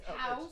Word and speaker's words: Haus: Sorry, Let me spell it. Yeah. H-A-U-S, house. H-A-U-X, ho.